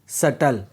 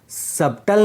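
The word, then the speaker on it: subtle: अगर बी टी के पहले आए तो बी साइलेंट रहता है। एग्जांपल इसे हम डेट बोलते हैं ना कि डेप्ट क्योंकि यहां पर टी के पहले बी आया है। इसीलिए बी साइलेंट रहेगा। इसी तरह डाउट सटल इसे हम डाउट नहीं बोलते हैं।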